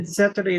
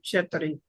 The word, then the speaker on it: ceteri: It was sounding like to me to like nos or And he said zeteri instead of cheteri.